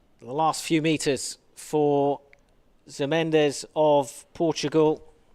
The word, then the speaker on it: Mendes: The last few metres for Mendes of Portugal. Jose Mendes, or Minge, is how they pronounce it.